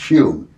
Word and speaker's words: Home: home or who it would be spelled h-o-m-e pronounced hume arguably the greatest physical